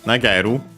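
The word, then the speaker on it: 投げる: Uh Its accent should be accented. Yes, it is.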